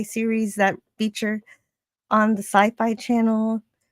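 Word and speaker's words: Syfy: that feature on the Sci-Fi Channel. Now it's spelled Siffy, but I'm supposed to still pronounce it Sci-Fi.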